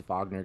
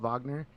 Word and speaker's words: Wagner: Wagner, why is it called Wagner? It's spelled Wagner, but it's Wagner because it's German.